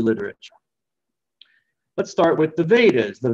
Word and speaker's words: Veda: The Vedas, the word Veda simply means knowledge in Sanskrit, and you might notice some connection with the English word wisdom. Wisdom, because the V is often pronounced like a W in Sanskrit.